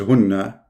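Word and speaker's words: هُنَّ: In fact, the correct reading is hunna, not hinna.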